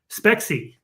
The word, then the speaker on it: Spexi: Spexi.